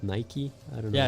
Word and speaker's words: Nike: Like it took me years to figure out that it's not Nike but Nike.